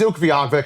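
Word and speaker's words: Utqiagvik: So Ukaviak, you're trying to pronounce it. It's not written easy to And then you just go, I'll just say Barl. They go, it's UK Vag.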